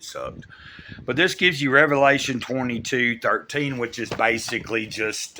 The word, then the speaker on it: Revelation: end of it and it's not Revelations it's Revelation maybe I'm just a stickler